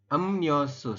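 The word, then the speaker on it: 음료수: Nomor 10 maka real dibacanya bukan real tapi dibacanya adalah n maka kita membacanya gimana Berarti em noo su seperti itu ya maka kita membacanya adalah em emnyosu seperti ini ya maka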